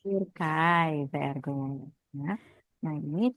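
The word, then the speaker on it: Türkei: Aduh, kalau gimana Kak bacanya? Turkai. Turkai, very good.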